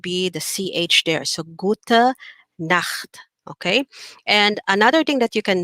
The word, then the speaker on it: gute Nacht: Okay, do you hear that at the back of your throat? Nacht. Okay, so the CH here is pronounced like a like at the back of your throat, you're saying it's like you're about to throw phlegm, but you're not really releasing it.